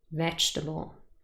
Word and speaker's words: vegetable: first syllable is stressed vegetable however if you have a careful look the second e in the spelling really is silent it's not represented and